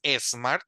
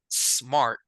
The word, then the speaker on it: smart: Aquí no hay una E, sino una S, ¿verdad? No es smart, sino smart. And work hard in school.